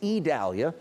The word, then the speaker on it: Idalia: what's happening with idalia you may think Cynthia it's idalia which I did but fortunately the National Hurricane Center comes out with pronouncers so it's idalia and idalia is down